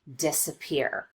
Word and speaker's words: disappear: An example of secondary stress would be the first syllable in this word, disappear. We do spend some time on this syllable, and we do make the vowel louder and longer, but not quite as much as we do on this last syllable, the third syllable, peer.